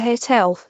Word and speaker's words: hotel: A hotel. Here we do pronounce the H, so it is a consonant sound.